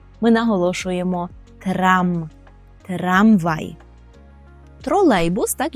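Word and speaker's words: trolejbus: ми наголошуємо трам трамвай тролейбус так і буде тролейбус тролейбус при вимові звертаємо увагу на ле так л польський звук який є завжди м'який тому ми не скажемо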